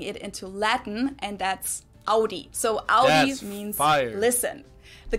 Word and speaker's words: Audi: first one is Audi most Americans that I know pronounce it like I just said it AI in German we say Audi Audi and there's actually a